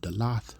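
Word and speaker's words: דלת: The root word that da comes from is dalath, pronounced. They have dalatha, but that's dalath, which means door.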